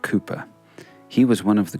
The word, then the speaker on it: Cowper: him is William Cooper He's Got A W in his surname but it's pronounced Cooper he was one of